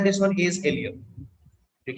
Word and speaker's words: ilium: ठीक है, अपर वाला जो पोर्शन है दिस वन इज एलियम। ठीक है, अपर वाला portion is called एलियम, ILIUM।